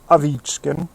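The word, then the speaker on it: Ovechkin: Alexander Avichkin. That's how you say it in Russian.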